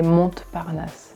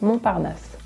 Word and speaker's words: Montparnasse: So of course, here's an example of silent letters, right? We don't say Montparnasse. It's just Montparnasse.